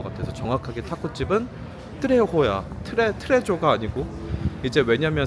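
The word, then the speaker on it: Trejo's: 거 같아서 정확하게 타고집은 트레호야. 트레 트레조가 아니고 이제 왜냐면 스페니시는 어 H가 없어서 J를 H 발음을 하거든.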